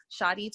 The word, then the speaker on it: Cheidi: Shadi 21 is how you pronounce it.